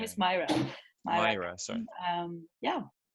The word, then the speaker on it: Myra: My name is Myra. Myra, sorry. Yeah. How do I spell that?